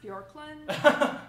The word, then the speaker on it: Bjorklund: and pre-hatchlings uh um isn't it pronounced bjorklund of course not there's a j in his name now the really